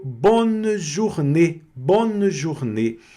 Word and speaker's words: journée: Journée, aqui novamente apareceu o O mais U, que é do bonjour, da U, né?